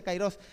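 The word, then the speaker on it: καιρός: griego la palabra tiempo aparece cairos se pronuncia cairos y ciró significa momento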